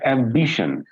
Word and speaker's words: ambition: that is right ambition so let me pronounce it in three ways again ambition this is wrong ambition stressing here third one which is wrong and the correct one is ambition so b is getting the stress because this is second